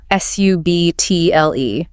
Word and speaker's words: subtle: The B is completely silent. The mistake is pronouncing it. S U B TL. Subtle, right? The correct pronunciation is just est like subtle.